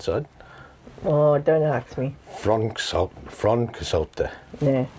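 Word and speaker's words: Froncysyllte: Frontcysyllte. Yeah. Fron. But it's like they said it was like a V sound.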